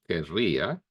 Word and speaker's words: querría: prefer to say quisiera because it's easier to pronounce quisiera than querría with this double R that it's made you to it's forcing you to say that in a very strong way, querría, and then that's